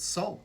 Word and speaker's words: Sol: has purpose right so we pronounce it salt just like s-o-u-l so there's a connection